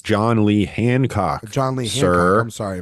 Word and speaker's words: John Lee Hancock: this up for me look up John hilat um maybe if I'm wrong I got saying his name wrong no you are it's John Lee Hancock John Lee Han I'm